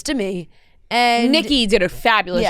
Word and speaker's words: Demi: yeah Demi was Demi yeah don't forget it's Demi and Nikki did a fabulous job pronouncing that correctly she did she did and